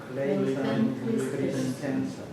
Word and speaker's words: 클레이턴 크리스텐슨: 발음이 좀 안 되죠. 크레이튼 크리스텐슨. 다시 한번 읽고 크레이튼 크리스텐슨. 클레이턴 크리스텐슨.